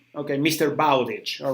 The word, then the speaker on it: Bowditch: that you are talking about carry on mr bottig okay mr bowditch all right sorry i know that is now